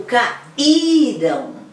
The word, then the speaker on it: caíram: Não, vamos escutar a sílaba tônica, ó. Caíram. Elas caíram, gente. Elas caíram. Qual que é a forte? É o urão? Não, é o i. É a anterior, a que antecede.